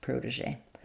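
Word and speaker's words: protégé: So it does some Z is sometimes spelled with letter G or letter S. Protege. Um yeah.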